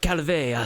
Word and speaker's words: Calvet: She like sits up and goes, my name is Commander Calvé, Sarah Calvé. Commander Calvea? Calvé, Calvet, with a silent T at the end.